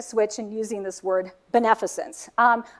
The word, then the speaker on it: beneficence: So if you can just remember maleficent, then you know how to pronounce the rest of it, right? Because maleficence, so forth, beneficence.